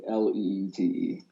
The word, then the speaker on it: Leete: Yeah, it's Leete, Leete.